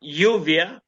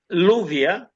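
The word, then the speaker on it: luvia: av instead of the double L yuvia double L didn't didn't don't doesn't exist in in Latino is louvia instead of yuvia like this.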